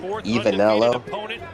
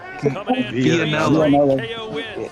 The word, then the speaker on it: Vianello: Ivanello? It's Vianello.